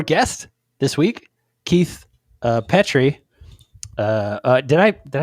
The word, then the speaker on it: Petri: of your last name it is petrie but everybody says pet tree oh i'm so close